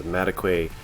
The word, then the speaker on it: Madekwe: here I'm on Archie I looked up how to pronounced his last name is mataquay this is IMDb I